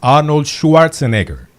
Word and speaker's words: Schwarzenegger: Aquí la gente dice Arnold. Claro, yo puedo pronunciariga. Así es que se dice en alemán. Arnoldiga. Esa es la pronunciación original. Ahora la americana es Arnold Schwarzenegger. No, no estoy hablando de